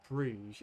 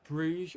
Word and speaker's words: Brugge: here at the moment how do you pronounce Club Brugge is it Brugge or buer BR right BR yeah I'm going Brugge for that and you think the same as our hre yeah it's Bru so many people down